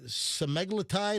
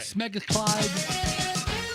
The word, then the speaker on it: semaglutide: The semaglutide, is that how you pronounce it, Michelle? I have no idea. What do you mean? Come on. I heard semaglutide, right? Semaglutide. Yeah, I heard smeglutide.